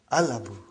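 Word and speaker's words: الأب: So without anything in front, I will pronounce it as Al-Abu. I'll pronounce it as Al-Abu. So I did pronounce Lam.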